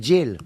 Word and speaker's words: Jill: Vous prononcez pas bien, c'est Jill.